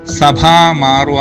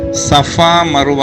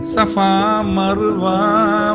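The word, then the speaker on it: സഫ മർവ: അവര് പാടുന്നത് സഭാ മാറുവ എന്നൊക്കെയാ പാടുന്നത്. സഭാ മാറുവ എന്നൊരു വാക്കില്ല, സഫയും മറുവയുമാണ്. അത് 2 മലകളാണ്, സൗദി അറേബ്യയിലെ പുണ്യ മലകളായിട്ടാണ് വെച്ചിരിക്കുന്നത്. അപ്പം സഫ മറുവ എന്നാണ് ആ പദം. സഫാ മർവ മലയുടെ ചോട്ടിൽ, അങ്ങനെ വരേണ്ടത്. പക്ഷെ എല്ലാവരും സഭാ മാർവ എന്നൊക്കെ പാടും.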